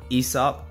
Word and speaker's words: Aesop: So the brand is Aesop. That's how it's pronounced from what I've read.